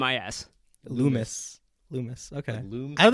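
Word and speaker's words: Loomis: lulen no lul lunis lunis lunis not Lis Lumis Lumis L what want say l o o m i Lumis Lumis okay Lum I don't think I ever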